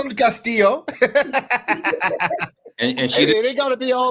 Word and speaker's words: Castillo: pronounced your name Caso she pronounced it perfectly like Perfection man you got that Double L she got that EO real real well like I call him like Castilla like you I call